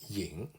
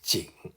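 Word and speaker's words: 景: also straightforward apart from this character yin or it is usually pronounced as jing meaning sceneries but here is equivalent to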